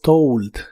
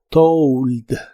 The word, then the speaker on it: told: En el pasado es told. Se pronuncia como si tuviera una u. Told.